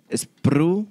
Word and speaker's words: Spreu: Chanfle se traduce como spreu. ¿Spreu o spreu? Spru. Ahí está, esa es la pronunciación, dice.